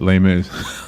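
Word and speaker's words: Les Mis: I haven't either I I only recently learned that's how you say it lay Miz I kept going less Miserables oh yes the box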